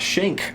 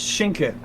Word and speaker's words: Schenk: And we have our race winner, Schenk, if I'm pronouncing that correctly. If not, let me know. And congratulations on the pole position and the race win of race 1. Yeah, thank you. It is Schenke, but Schenke, you're close.